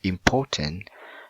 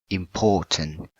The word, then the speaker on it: important: right like this one important you have to put the stress word in the port or the second syllable so you pronounce important not important so when you put